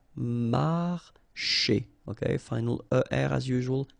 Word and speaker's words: marcher: Marcher. Okay, remember when you combine this C and H here, you get the sound sh. Marcher.